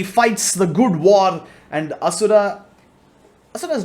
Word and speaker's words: Asura: On to the next one though, you have Indra and Asura. Yeah, I'm not sure how other people pronounce this, but in India it's Indra and Asura.